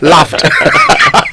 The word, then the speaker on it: laughed: Laughed. With a T? Because you guys always try to correct us, yes. with how we pronounce it. So what do we do now? It's laughed with a T.